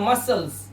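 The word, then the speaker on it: muscles: यहां पे देखिए इसे पढ़ते हैं मसल्स। मसल्स। यहां पर हमारा क्या साइलेंट है?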